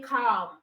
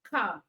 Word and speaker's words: calm: you don't say talk you don't say calm all right you say walk talk come so the L in this words are silent letters all right the next